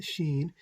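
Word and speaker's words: שׁ: And Sheen, if the Dagesh is on the right, is pronounced Sheen. If the Dagesh is on the left, is pronounced Seen.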